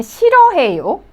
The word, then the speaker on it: 싫어해요: Well, you could see the first syllable. It has more than 3 consonants. Okay, so 시 and then 르 sound and H sound. But this one, H sound doesn't sound. So it is like 실.